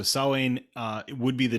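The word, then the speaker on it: Samhain: uh the holiday salon saline is not spelled the way it sounds it is spelled s-a-m-h-a-i-n even though it is said not like that at all so sawing uh it would be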